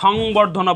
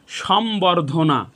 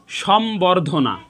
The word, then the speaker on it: সম্বর্ধনা: ব এবং ম এ দুটি বর্ণের সাথে যদি ব যুক্ত হয়, বফলা যুক্ত হয়, তাহলে সেই বফলার উচ্চারণ অবিকৃত থাকবে, অর্থাৎ সেই বফলার উচ্চারণের কোনো পরিবর্তন হবে না।